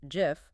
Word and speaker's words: GIF: The inventor of the image format, Steve Wilhight, definitively stated on the record that it is pronounced GIF with a soft G like the peanut butter.